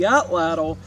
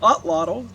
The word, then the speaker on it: atlatl: cause and effect so with the atlatl or the ah twaddle depending on how you pronounce it the archaic Indians were